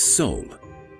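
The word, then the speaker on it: Seoul: to host important sporting events this is soul one of the oldest cities in Asia do you hear the pronunciation Soul yes it's like the soul of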